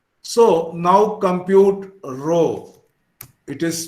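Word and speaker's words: rho: be called summation d s so now compute row it is pronounced like this row is equal to 1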